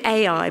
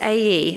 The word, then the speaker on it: Ai: in to to now i always want to call it ai but it's a e apparently so forgive me if i say it wrong joshua sent some men